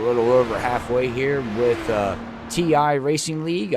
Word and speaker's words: TI Racing League: over halfway here with ti Racing League I said it right it's not team won its ti Racing League I didn't I didn't